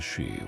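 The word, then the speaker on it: 死: The first character I as Chinese letter read as she which simply and starkly means death.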